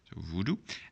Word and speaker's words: voodoo: here's two of them this voodoo comes from English and we're going to just pronounce it as an English who do voodoo and the second one